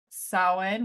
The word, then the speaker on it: Samhain: but we're gonna talk about Sin which to this day I still want to say sam ha Sam ha that's how it's spelled that's sa I don't